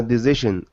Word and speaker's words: decision: Luau, pronunciation, it's an S sound. Decision. Decision. There you go. And then the ja. Decision.